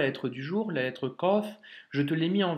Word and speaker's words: ق: Donc, un petit rond avec cette forme, ce sera le son, la lettre kof.